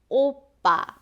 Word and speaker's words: 오빠: So, if you're interested in Korean cultures, you must have heard of this word before, which is 오빠. This is a good example for you to practice 빠 pronunciation. So, 오빠 means older brother if the speaker is female.